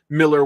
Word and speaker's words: Millar: Sorry, I keep saying Millar, but apparently it's Miller. So, my apologies. That's just in my head. I want to pronounce it that way based on the spelling, but that is apparently not correct.